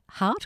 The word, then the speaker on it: Huart: Is that how you pronounce it? Hart or Hewitt. Hewitt, okay.